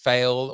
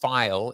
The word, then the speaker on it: Pheil: But on Wellness Wednesday and with Erin, and it is not pronounced Pheil or or Pheil. It is pronounced Pheil, Erin Pheil.